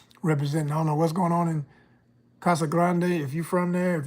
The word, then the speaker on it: Casa Grande: Let me say it right. Let me do my Spanish right. Casa Grande.